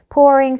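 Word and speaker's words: pouring: 안에 있는를 돌리는 겁니다 그 PO 하고 있는 거 발음은 약간 오에 가깝게 해 주시면 돼요 poing poring some coffee 하면 어떻게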